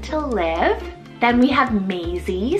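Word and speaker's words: Mazie: It really depends on how you want to pronounce it, but it's a French-rooted name meaning to live. Then we have Maisie, spelled M-A-Z-I-E, Maisie.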